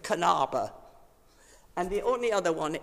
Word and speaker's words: Knabe: The only thing is, unlike us, they don't have a silent K. So you pronounce the K at the beginning of Kanaba.